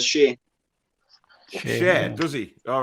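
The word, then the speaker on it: Schär: I think Fabian actually pronounces his own name as Shea.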